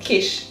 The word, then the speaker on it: Kiss: It sounds, no, you spell it like kiss and it sounds like quiche.